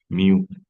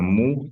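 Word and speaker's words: μ: Miu es una mu en el alfabeto griego, pero se pronuncia miu, ya de todas las viviendas de la ciudad.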